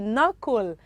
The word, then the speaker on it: knuckle: c k l e knuckle and of course from the word knuckle the letter k is silent right beautiful because you